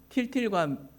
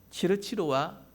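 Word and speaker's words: Tyltyl: 틸틸과 미틸이라고 하는 일본 발음으로 하면 치르치르와 미치르라고 하는 그 남매가 이 파랑새를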